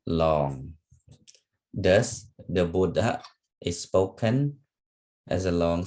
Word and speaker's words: Buddha: Thus, the Buddha is spoken as a long syllable followed by a short one.